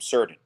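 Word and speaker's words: Surtain: you mean it's certain he's like yeah you pronounce my last name surgeon it's like okay Patrick's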